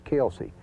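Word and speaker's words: Kilsyth: of the Corbin division these are pronunciations kind of indigenous to the area but chasa which is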